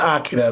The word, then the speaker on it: Akira: It's about Akira, but it's pronounced Akira.